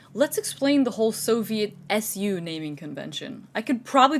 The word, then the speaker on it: SU: appreciate the shock armor importance of the Soviet SUs apparently comes around from the poor handling of terminology. The Soviets called their assault guns самоходные установки. Translated directly, this is something like self-propelled mounts. Abbreviated to SU, it's pronounced like SU.